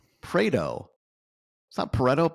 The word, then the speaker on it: Pareto: Prao. Prao.